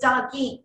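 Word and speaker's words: Dagim: of the sun okay the hebrew name for pisces is dog d-a-g-i-m this one i know i'm pronouncing right because dog means fish in hebrew and i am is plural it's like yes or es for us in english so doggy that means two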